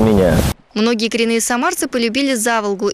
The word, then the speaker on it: Заволга: многие коренные самарцы полюбили за волгу именно так с ударением на первый слог и в одно слово называют все то что